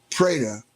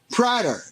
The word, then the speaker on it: Prader: Prader. I said, "What?" Prader. I said, "Spell it." So he I said, "Oh, Prder." He says, "No, Prader."